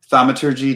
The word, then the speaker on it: thaumaturgy: bring them back at that moment angelus cass thamaturgy is that how you say it yeah thaumaturgy to instantaneously cause an unlocked door window behind